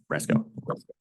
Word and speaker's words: Rasco: Because Oh, did I get your last name wrong? Rasco. RASCO. Right, Ms. Rasco?